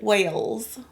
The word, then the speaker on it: Wales: I know how is pronounced, but when I pronounce it, it just doesn't come out right. You know what I mean? I say Wells. Unless you over the top like. Let me hear you say it. Wales.